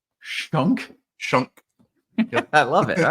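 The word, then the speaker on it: Schunk: Yankees lineup is good uh um see Aaron Shunk is a is a player that's playing third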